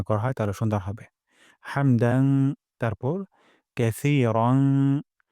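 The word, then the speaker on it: حمد: রব্বানা ওয়ালাকাল হামদ এখানে হামদু আছে এখানে আমরা ওয়াকফ করব অথবা হামদু পড়তে পারি তবে ওয়াকফ করলে সুন্দর হয় হামদ গলার মাঝখান থেকে হা উচ্চারণ করব রব্বানা ওয়ালাকাল হামদ আর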